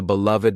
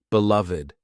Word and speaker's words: beloved: Here, this first expression has an ed at the end, but listen to how it's pronounced, beloved. There is a V and a D side by side.